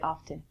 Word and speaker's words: often: in America people say often I'm inclined say often it's your choice from this lesson if you wanna say often the T is silent that's perfect so when you're in